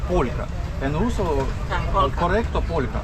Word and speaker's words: полька: польска, мы называем неправильно говорить полячка. Это неправильно. Правильно говорить полька.